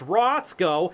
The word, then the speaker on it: Roscoe: It's pronounced Roscoe, and I stole that sandwich fair and square.